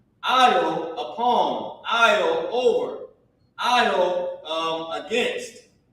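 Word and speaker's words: על: I'll Yaham. I'll. Who knows what I'll meant? Remember when you're walking down the aisle? That's how it's pronounced.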